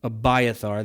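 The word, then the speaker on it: Abiathar: But one of the sons of a Hima, the son of a highub named Abbyar, which we'll call him Abiar, that seems to be the common English pronunciation.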